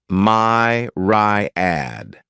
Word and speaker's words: myriad: next noun is Myriad this word has three syllables and the stress is on the first syllable my rad a Mirad is a